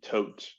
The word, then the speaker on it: Todt: so like I mentioned I am discussing the tote family coach is spelled t-o-d-t just in case you ever want